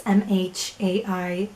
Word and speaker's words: Mhairi: I looked it up and I think her name is pronounced as a V because it's Gaelic. It's Mhairi, and I think the MH make a V noise.